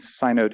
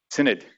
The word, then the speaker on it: synod: comes from the composition rules of multiple independent synote instances am i pronouncing that right does anybody know synod okay it's it's it's the name of like